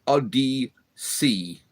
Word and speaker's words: Odysee: It's called Odyssey, Bills, but it's spelt in a weird way. It's ODYSEE. That's ODYSEE. So it's Odyssey.